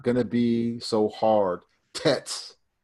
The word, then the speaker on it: Tet: Tets. Use a more softer, like a d sound.